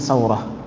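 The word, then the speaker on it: سورة: Muhammad bin Isa bin Saurah, Saurah sin waw ra tak marbutah, sa-nya jadi fathah, kemudian wa-nya disukun, roh fathah juga, jadi bacanya Saurah.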